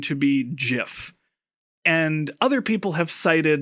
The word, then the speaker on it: GIF: And therefore, because that's a hard g, that should make the acronym start with g.